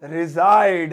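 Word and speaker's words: reside: Where do यू रिजाइड। अब ये लिखा तो रिसाइड सा है, लेकिन इसे थोड़ा स्टाइल में इंग्लिश में बोलते हैं रिजाइड, ऐसे थोड़ी प्रोनाउंसिएशन इसकी ऐसी है।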